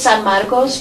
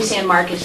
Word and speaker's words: San Marcos: I'm a former Spanish teacher, so to me it's San Marcos, but I'll say San Marcos if you guys make me do it.